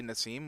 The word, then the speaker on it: Nasim: there is already impressive Dickie keeps correcting how I pronounce Nasim it's probably Naseem which is he's probably